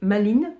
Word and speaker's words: Malin: C division propriétaire Lord maline bon ça s'écrit malin on va dire maline c'est c'est américain lui propose un dangereux